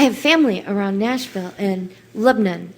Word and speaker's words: Lebanon: You know, um I have family around Nashville and Lebnon. Am I saying that right? Lebanon. Yeah. Well, I say Lebanon and they say no. Lebnon.